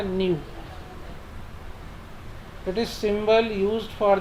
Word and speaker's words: nu: ये ऐसा जो साइन बना हुआ है इट इज़ न्यू, इसको बोलते हैं NEU, प्रोनाउंसिएशन है इसका न्यू।